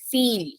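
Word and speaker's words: viel: you see this word this is called feel yeah I E is becoming e feel then if a word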